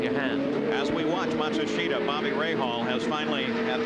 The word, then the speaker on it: Matsushita: the truth is that the family name Matsushita. But as Hiro comes to the United States, he would really prefer now, he says, for all of us to pronounce his name as Matsushita.